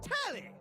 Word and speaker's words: Telly: The name's Telly. Rhymes with Nelly. Like, whoa, Nelly.